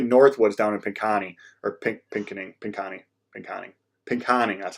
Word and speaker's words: Pinconning: But luckily, Northwood's down in Pinconning, or Pinconning, that's how you say it.